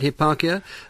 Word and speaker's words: Hipparchia: he was wooed by a virtuous maiden called Hipparchia. Is that how I pronounce it? That's right. That's yes. right, Hipparchia, a wealthy, virtuous young maiden.